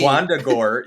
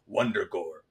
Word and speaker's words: Wundagore: I love that Wanda did you guys hear when Wanda pronounces it? It like Wong literally says Wandagore. Like it's me. Wandagore, yeah. And then but Wong pronounces it, it's like Wondagore. like under his breath.